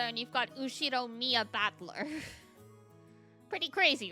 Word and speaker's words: Battler: I can't remember fight in person and it's pronounced battler yep So here here's something for the GBF people.